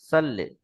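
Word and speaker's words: صلِّ: পড়লাম আল্লাহুম্মা সাল্লি আলা এখানে সদ রয়েছে এখানে অনেকজন পড়ি সাল্লি আলা সাল্লে সিন থেকে এ বিষয়টা খাস করে খেয়াল রাখবেন সিন দিয়ে উচ্চারণ করলে তাহলে উচ্চারণ ফুল হবে এটা সদ দিয়ে উচ্চারণ করতে হবে।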